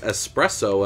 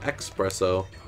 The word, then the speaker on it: espresso: call him espresso because i know the right word is espresso and i've corrected that in my mind so every time i go to say his name i'm saying espresso instead of expresso it's kind of interesting